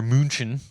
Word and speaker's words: München: What Munich, or München, the way they pronounce it, that's was the capital at the time.